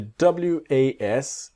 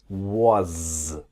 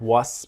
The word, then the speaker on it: was: And the W-A-S, it's like a Z, the was. Not was, but was.